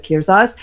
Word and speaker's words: Kirzaz: Am I That's right, pronouncing that Kirzaz.